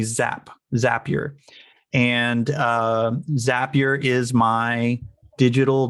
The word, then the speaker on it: Zapier: I fell in love with, and I recently learned how to say its name, Zapier. I always called it Zapier, but it's apparently Zapier.